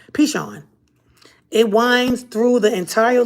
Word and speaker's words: Pishon: of the first is the pison pishon pichon i always get that name wrong pishon it winds through the